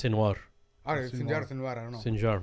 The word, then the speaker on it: Sinwar: I thought the J is silent, or the Jim. I thought it was Sinwar.